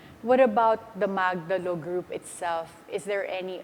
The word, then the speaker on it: Magdalo: and by the way I pronounce it we pronounce it as magdalo because the magdalo is the one the historical